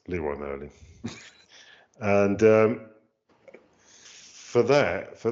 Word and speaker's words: Leroy Merlin: DIY supplier which is Leroy Merlin. You can pronounce it in the French way, but um it's Leroy Merlin.